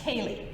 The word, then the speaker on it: Ceilidh: And a Ceilidh, spelled like this in Irish Gaelic, but is pronounced like this, Ceilidh.